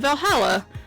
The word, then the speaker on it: VA-11 Hall-A: or ba11 Hall a the name sounds a bit silly and hard to pronounce good thing it's actually called Valhalla the funny numbers and letters are just a code anyway I visited this cute